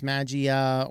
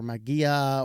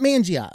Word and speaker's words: Mageia: to reality and again about the pronunciation if it's maggia or magia or Manji I don't know it's not Mangia okay I said that a few times it's not that there's no n in here silent end sorry I'm English